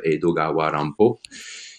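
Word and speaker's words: 江戸川乱歩: qui est un peu un anagramme d'Edgar Allan Poe qui se prononce Edogawa Rampo et qui a publié énormément de choses en termes de romans détectives, romans policiers.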